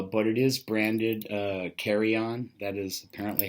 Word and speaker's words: KARAJAN: sport diver uh but it is branded uh carryon that is apparently how it's supposed to be pronounced too so I will leave a link